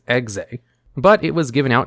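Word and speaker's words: Exe: few cards that was given a pronunciation guide on how to say its name as xay but it was given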